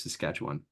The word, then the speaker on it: Saskatchewan: to west uh it's in a province called Saskatchewan if you want to know how that's pronounced I'm in the University of to sketch one okay so I'm going to be talking about